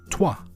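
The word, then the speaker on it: trois: Tua. T R O I S. Apologies to French listeners. I'm probably pronouncing that horrendously wrong, but it's it's unto, isn't it?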